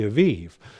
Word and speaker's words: Aviv: the month of the Aviv, or oftentimes in our English translations, it'll have A-B-I-B, but phonetically in Hebrew, it's more A-V-I-V is how it would be correctly pronounced.